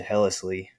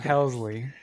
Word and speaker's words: Helsley: has some injuries and then ultimately went to hellishly I think but with hellesly injured you know